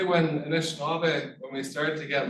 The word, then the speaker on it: Anishinaabe: That when you actually break it down, the old way of saying it is Anishinaabe.